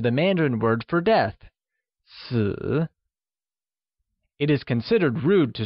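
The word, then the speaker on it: 死: sounds similar to the Mandarin word for death, si.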